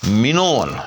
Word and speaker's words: من وعن: یعنی میم کی پر زبر آ گئی زیر کی بجائے، اور نون کو جو کہ بغیر شد کے پڑھنا تھا، غیر مشدد پڑھنا تھا، ہم نے اس کو مشدد پڑھ دیا. تو درست تلفظ اس کا منون، یہ بھی یاد رکھیے.